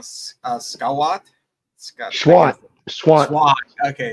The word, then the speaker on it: Schwandt: So if I say it wrong, Schwandt.